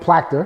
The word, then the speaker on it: Plactere: i'm hearing my guy plachter did i say it right yep got it right here we go aka